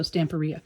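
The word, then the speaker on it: Stamperia: videos but she said they pronounce it like pizzeria so stamporea so i'm gonna go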